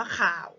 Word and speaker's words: ข่าว: คำ แรก นะ คะ อ่าน ว่า ข่าว นะ ฮะ ขอ อา อา วอ ขาว มั้ย เอก ข่าว นะ คะ ครั้ง ที่